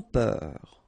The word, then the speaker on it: peur: Sans peur. Okay, pronounce the final R, E-U-R, heure, peur.